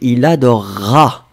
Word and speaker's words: il adorera: On prononce comme si vous aviez un double R.